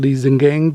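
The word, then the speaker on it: Liesegang: The dark reddish brown swirls and rings on the rocks are called Liesengang bands, pronounced Liesengang bands.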